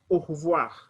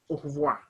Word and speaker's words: au revoir: The first letter R, we pronounce like KH. So you'll say au revoir. Remember I told you, O-I, we pronounce it like wa, au revoir.